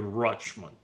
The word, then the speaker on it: Richmond: I have in my mind the association Richmond-Rochmond, because that's how the real Richmonders pronounce it, Rochmond.